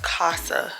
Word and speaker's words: Casagear: He like, you know, it's pronounced Casa. Like, mi casa, su casa, home gear.